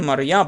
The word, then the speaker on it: Marib: Let's call it just a Marib Dam, but there you go, Marib. Mariab. That's how it's just pronounced.